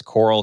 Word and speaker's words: Koral: There's a uh So, my last name is Coral. K O R A L. So, not spelled like the other kind of Coral, but sounds like Coral.